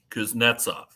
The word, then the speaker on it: Kuznetsov: the last week so with uh Russian and Eastern European last names when you have an odd number of syllables you put the accent on the second syllable so if it's like a three-syllable last name kuznetsov Ovechkin you know and you go through the accent is the second syllable and you have four